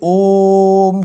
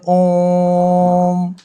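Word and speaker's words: ओ३म्: ये लगे रहेंगे उतनी ही लंबी हमें आवाज खींचनी पड़ेगी जैसे ओम को बोलते हैं हम यहां पर ओम में इस तरीके से लिखा जाएगा तो ओम को बोलते हैं ओम ठीक है इनके उच्चारण में दीर्घ स्वर से भी अधिक समय लगता है और यह जो एक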